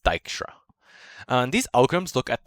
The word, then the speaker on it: Dijkstra: ford and dijkstra so this is a dutch name so it's d i j k s t r a and it's pronounced dykstra and these algorithms look